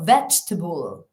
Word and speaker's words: vegetable: Vegetable. Veg, la sílaba tónica, y el resto, fijaos, schwas.